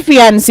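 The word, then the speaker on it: fiancé: आगे यहां देखो यह वर्ड है फियंसी और इसके बगल में ही एक और लिखो एफ आई एन सी ई और इसकी प्रोनाउंसिएशन क्या है इसे ऐसे प्रोनाउंस करते हैं फियंसे मेरे साथ बोलिए फियंसे ओके फियंसी क्या होता है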